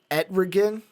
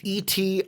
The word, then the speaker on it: Etrigan: Fucking Etrigan. It's Etrigan. Etrigan, yeah. Something. The how demon, the hell it's pronounced.